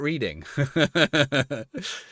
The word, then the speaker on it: Reading: It's reading, not reading. You know, that's one of my favorite ones.